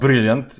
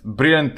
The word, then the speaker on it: Brillant: Actually, it's not Brillant. Brillant is in the English pronunciation. Brillant, as it is written here, it's a French word, but I don't want to try my French.